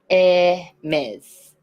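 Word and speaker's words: Hermès: Hermes. Yes. So the H in French is always mute, Silent.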